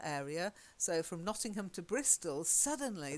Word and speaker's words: Bristol: So from Nottingham to Bristol, suddenly the pronunciation changes dramatically. Bristle instead of Bristol, Okay. and everything ends in ul.